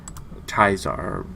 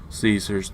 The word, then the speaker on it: Caesar: Caesar, however you want to pronounce it. Caesar's the Latin way. Caesar's the English way.